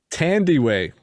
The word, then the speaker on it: Thandiwe: Hugh Jackman, Rebecca Ferguson, and I actually looked up how to pronounce her name. Thandiwe.